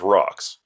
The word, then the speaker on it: RAUX: all right okay so you gotta pronounce it the cool way which is rocks okay now I'm on